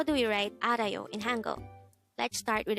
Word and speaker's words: 알아요: study about the word Aro let's start learn Korean one word at a time here at De hango we're at number2 AR Aro this is pronounced as a three syllable word the first syllable is